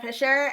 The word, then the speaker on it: Fischer: socials sure so my name is uh Dana Fisher and you can find me on most platforms